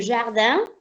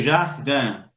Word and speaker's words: jardin: ¿Cómo suena esa J? Como una Y, con una Sí. vocal, como una Y. Como una Y, bien pronunciada, hasta diría yo exagerada.